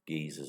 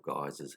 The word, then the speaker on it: geyser: in the form of geezers or geysers however you wish to pronounce it so what is